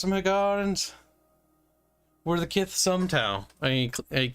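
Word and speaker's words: Hiigarans: They pronounce them Higarans.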